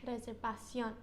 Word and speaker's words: reservación: Now, if we were thinking of that nose rule, we would thought it would be reservation, but why isn't it? Because there's an accent. Because there's an accent over the O, okay?